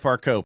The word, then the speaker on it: Parcaut: that first I asked how do you say Parco but I wouldn't out of French So 20% French but right you had to rub that in didn't so it's Parco p a r c a u t but